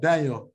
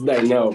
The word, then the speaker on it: Dinell: All right, Daniel. Is it Daniel? I feel like I'm saying your name wrong, bro. Say your name. Say your name. How you say it? It's Dinell, bro.